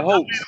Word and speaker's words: Hotez: And I was pronouncing the dude's name wrong until Vance corrected me on that. Peter Hotez.